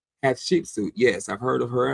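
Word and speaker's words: Hatshepsut: Hat sheepsuit.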